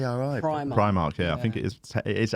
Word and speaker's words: Primark: from primark prime mark why'd you say you always say pre-market p-r-e-e is it it's pri primark yeah i think it